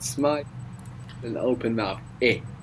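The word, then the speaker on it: è: Now, this e is pronounced a little bit smiley. So make a smile, and with an open mouth, make e. And there you will get the sound.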